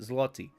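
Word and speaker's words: złoty: polish oh right we went over this polish zotti zot that's how you pronounce it zotty thank you for the 10 polish zotty and thank you C Avengers for another 999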